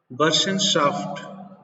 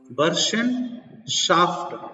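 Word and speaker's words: Burschenschaft: तो जर्मनी एकीकरण की सबसे पहली कड़ी, सबसे पहला प्रयास है बर्शनशाफ्ट। इसकी आपको स्पेलिंग में ध्यान देना पड़ेगा। बर्शनशाफ्ट ये जर्मन नाम है, BURSCHENCHAFT, बर्शनशाफ्ट, जिसकी स्थापना की गई 1815 में।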